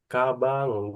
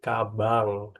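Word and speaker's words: かばん: Minasang korewa kabang des kabang des kabang des aodes ja jadi bukan kaban ya minasa tapi kabang karena n di belakang itu bacanya nge kabang eh segiwa gore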